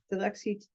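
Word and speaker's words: Dilexi te: Can you pronounce that one? Dilexite.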